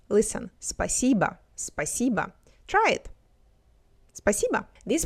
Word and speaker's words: спасибо: Next, спасибо. The last vowel is pronounced as A because it's unstressed. Listen, спасибо, спасибо.